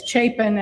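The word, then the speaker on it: Chapin: It's it's Chapen. And remember Harry Chapen, the musician, and that'll help for those of you who are old enough to remember Harry Chapen.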